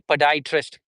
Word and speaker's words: podiatrist: be like that sorry so it would be podiatrist per dye would be like color dye pad podrist so poditrist would be same for British in American English.